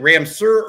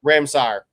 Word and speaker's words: Ramsur: Is it Ramsur or Ramsire? Ramsire. Sire. Okay. Yeah. Gotcha. It looks like Ramsur. Like I would have pronounced it Ramsur, but you said you went by the school and they said Ramsire.